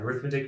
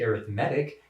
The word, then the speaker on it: arithmetic: sounds like arithmetic and arithmetic means adding it's exactly right so we emphasize the wrong syllable when we say arithmetic instead of arithmetic but it's the same